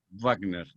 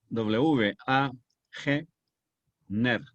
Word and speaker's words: Wagner: En alemán se pronuncia labio dental, no gutural como ustedes acostumbran en inglés. Wagner. D-A, o sea, W-A-G, Ner, Wagner.